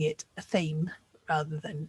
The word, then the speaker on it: athame: So yeah, there are so many different ways to pronounce this word. Like I said, I say athame.